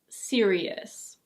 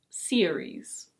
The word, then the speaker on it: series: It's not "see-ree-es". In British English it's: series. Series. In American English it's very similar, but the first syllable is a little different.